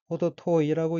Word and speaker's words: 程遠い: 넷째 줄 왼편 첫 번째 어휘는 한자가 한도정, 멀 원자가 들어있고 일본어로는 호도토이라고 읽으며 호도토이는 좀 멀다, 동떨어지다, 차이가 많이 나다 라는 뜻의 형용사입니다. 넷째 줄 왼편 두 번째 어휘는